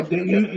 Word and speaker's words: Duchovny: No, not David Yeah, Duchovny.